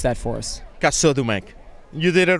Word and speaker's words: Casaudemec: First of all, pronounce that for us. Casaudemec.